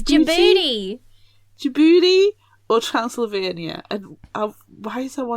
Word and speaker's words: Djibouti: It's Djibouti.